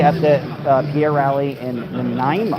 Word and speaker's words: Nanaimo: I'll be at the Pierre rally in Nanaimo. It's been a real struggle to pronounce that name, I'll tell you.